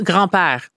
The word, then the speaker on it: grand-père: Oh, grand-père. Grand-père. Yeah, like grandpa.